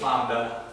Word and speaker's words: lambda: how it's spelled, but lambda. And that's just the L, this is the L sound, just like in our language.